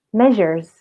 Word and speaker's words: measures: Jamaknya seperti ini, measures, measures. Oke, jadi huruf R-nya itu nggak dibaca terlalu tebal ya, tapi agak tipis aja. Kemudian huruf S-nya itu dibacanya seperti huruf Z, gitu.